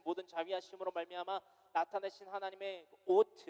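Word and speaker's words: אות: 그 만나와 매출하기, 즉 하나님께서 나타내신 모든 자비하심으로 말미암아 나타내신 하나님의 오트, 히브리어이기 때문에 오트라고 발음합니다.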